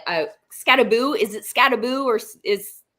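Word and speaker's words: Skattebo: who I default to at all times for pronunciations. Scataboo. He does have it. It's in the background. So Scataboo B. Thanks Dane Cam. Scataboo is on team roads.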